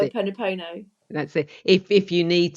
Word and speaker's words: Ho'oponopono: I can never pronounce it. Ho'oponopono.